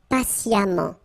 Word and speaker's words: patiemment: So as I told you, even if you write it E-M-M-E-N-T, phonetically it goes like amant, patiemment.